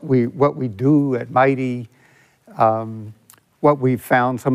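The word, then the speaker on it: MITEI: statement for Mighty uh mid-e-i we pronounce Mighty uh Ernie and I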